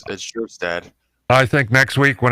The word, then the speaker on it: Kjerstad: It's spelled Kjerstad, but it's Kjerstad.